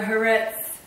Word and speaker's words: Haaretz: glee last night a Haaretz newspaper. Now, Haaretz rhymes with Tourette's, you know, that syndrome